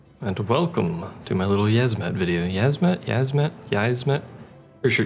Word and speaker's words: Yiazmat: In the Japanese version, there's no I in it. It's just Yiazmat without the I, which is why I pronounce it Yiazmat.